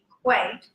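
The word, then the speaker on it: EQAT: Equate is how it's pronounced.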